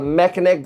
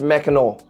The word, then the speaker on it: Mackinac: I realized that Mackinac, I was calling it the Mackinac Bridge. Mackinac Bridge. That is a cool name, Mackinac. It's actually pronounced Mackinac. Mackinac, with the AW at the end.